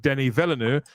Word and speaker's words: Denis Villeneuve: And it would seem that Denis Villeneuve would. Did I pronounce that correctly, Chris? Denis Villeneuve. It's Denis Villeneuve.